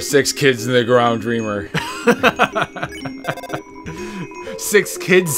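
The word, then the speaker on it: Dreemurr: This is where I found out how to actually pronounce Dreamer, because I always thought it was Dreamure.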